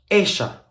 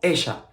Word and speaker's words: ella: First of all, remember that we pronounce the letter Y and the letter double L as sh sound, okay? Yo, ella, yo, ella.